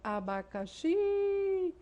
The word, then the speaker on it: abacaxi: Oxítona, quando o acento tônico encontra-se na última sílaba, que é a palavra abacaxi. Abacaxi. Esse X está na última sílaba, então encontramos uma oxítona.